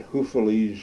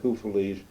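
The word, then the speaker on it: Houffalize: day we're in a column we've been in Huf Belgium that's U FF a l i z e hu's a lovely little uh Resort town on a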